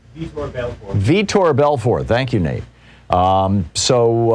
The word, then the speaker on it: Vitor Belfort: between evander holyfield and victor belfort i may be mispronouncing that i don't follow boxing but uh say say that again vitor belfort thank you nate um